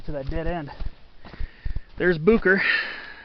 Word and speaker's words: Boucher: that dead end there's Bucher right there you'd think it's like you'd think the name was French like Boucher but it's actually pronounced bucher there's the lower French